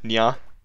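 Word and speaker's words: にゃ: Meow is pronounced nya.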